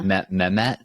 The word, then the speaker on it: Mehmet: Mehmet?